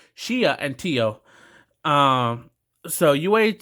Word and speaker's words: Shia: pronouncing her names shia i always play an r for some reason i don't know why i always say shira shia and tio um so